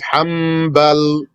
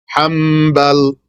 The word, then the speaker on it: Hanbal: Note for you, proper pronunciation is Hanbal with a light M sound there, M instead of N. Hanbal, like that. Flip the noon into a meme.